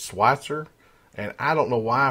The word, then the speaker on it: Switzer: It's Switzer. And I don't know why I pronounced it Switzer.